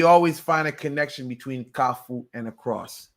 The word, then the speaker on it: Kafou: broke it down but basically you had people's pronouncing kafu as kalu k a l f o u and I corrected that I said kafu met kafu it means intersection okay am I doing it